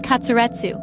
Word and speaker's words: katsuretsu: The Japanese pronunciation of cutlet is katsuretsu.